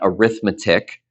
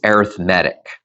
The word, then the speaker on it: arithmetic: to pronounce that right it's not arithmetic it's arithmetic and an arithmetic sequence